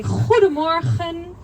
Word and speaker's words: goedemorgen: We have a lot of G's in our language and we pronounce it like so we say goedemorgen.